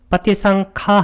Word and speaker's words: 빠띠상카: 빠띠상카 할 때 카를 길게 발음한 것은 빠띠상카, 깊은 숙고고, 아누파사나가 이게 바로 관찰이죠.